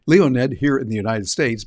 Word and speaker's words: Leonid: That's how you'd pronounce it in Russian. Leonid. We'd say Leonid. Leonid here in the United States, but they pronounce it there.